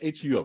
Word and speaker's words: Hum: Is it pronounced H-U-M, Hum, or?